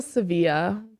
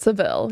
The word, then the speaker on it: Sevilla: Well, Sevilla, but Seville. Yeah. Which one is supposed to be right? Well, Sevilla is how Spaniards would say it.